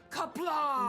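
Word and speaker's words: Qapla': Kapla!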